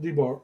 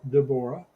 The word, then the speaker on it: Deborah: We would pronounce it Deborah. She pronounces it Deborah. Deborah.